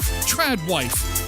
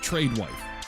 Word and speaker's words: tradwife: Tradwife. Delulu. Am I even pronouncing that right? Or is it tradewife? There's no E.